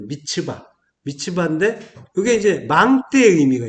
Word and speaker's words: 미스바: 미스바. 미스바의 이제 원래 발음은 이제 미츠바.